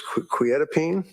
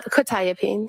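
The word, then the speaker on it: quetiapine: probably mispronouncing this quetapene. Uh quitapene.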